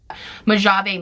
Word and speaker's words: Mojave: I'm gonna put an editing me of how you actually pronounce that. Mojave Moves, and I don't really love the Jelly